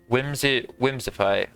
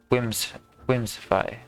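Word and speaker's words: Whimsipae: Whimsify. That's how it's pronounced, but it's spelled W-H-I-M-S-I-P-A-E. Whimsify.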